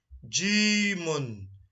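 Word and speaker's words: جيم: And the fifth letter is Jimun. If you want to shorten the pronunciation, it is called Jim. And this is Jim in isolation.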